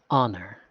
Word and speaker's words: Honor: youthful sounding woman saying, "You've been saying it wrong. The name is Honor.